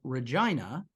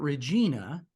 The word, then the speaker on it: Regina: city of Regina, pronounced like Carolina, not Regina, has Mhm.